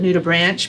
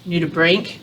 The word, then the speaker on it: nudibranch: It's a common mispronunciation actually to call it a nudibranch, because branch is what it looks like, but it is nudibranch because like our bronchioles and whatnot, those are the nude lung parts.